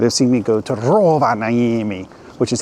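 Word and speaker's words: Rovaniemi: February you might have seen me go to Roa naami which is how you actually pronounce it you have to say it just like that Roa namami but I went there and I went to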